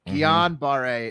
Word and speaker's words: Guillain-Barré: there's 3 different pronunciations. And Guillain-Barré. I believe it's Guillain-Barré. I think it's Guillain-Barré. Guillain-Barré. Guillain-Barré is how you'd say it.